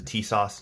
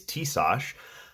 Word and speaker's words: Tisas: stack 9mm 1911 I could this is the t- sauce 1911 carry double stack I looked up how to pronounce the company name apparently it's tsos I'm going to forget that and probably pronounce